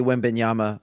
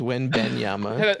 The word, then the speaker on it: Wembanyama: I'm gonna make you say Wembanyama all the way through Wembanyama.